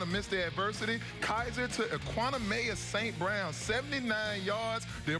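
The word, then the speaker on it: Equanimeous St. Brown: Kaiser to Equanimous St. Brown, 79 yards. Did I pronounce his name right after that?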